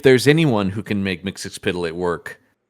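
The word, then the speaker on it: Mxyzptlk: I believe in his ability to make and there's any number of ways to pronounce it. I've always said Mixix Pitilik, but um it's a madeup silly word.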